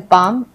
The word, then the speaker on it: palm: हम बाम बोलते हैं, इसको हम पालम नहीं पाम पढ़ते हैं।